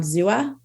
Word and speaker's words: Xooa: So now I'll tell you, we're on Zua. It's spelled XOOA.